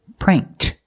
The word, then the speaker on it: pranked: verb and I can change it to the past with Ed pronunciation pranked he pranked me when